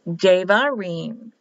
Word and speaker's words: Devarim: Debarim, but pronounced Devarim. Spelled with a B, pronounced as a V.